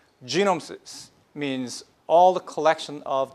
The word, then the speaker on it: genome: In Korean, it's a little bit bad word, genome. Okay? It's a bad word. This is how we pronounce it, okay?